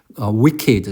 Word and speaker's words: wicked: wicked, 사악한 할 때 분명 K로 끝났는데 얘도 ED 발음 나요.